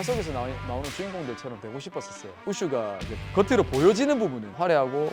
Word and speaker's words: 우슈: 쿵푸 팬더라든지 뭐 쿵푸 허슬이라든지이 쿵푸라는 단어를 많이 아시는데 일단 우슈라는 이름부터 제가 설명을 드리고 싶은게 많은 사람들이 우슈가 뭐예요? 이렇게 물어보시는 분들이 많던데 일단은 결론부터 말씀드리자면 무술의 중국식 발음입니다. 북경의 표준화 발음으로 우슈 예전에 쿵프라고 불리던 중국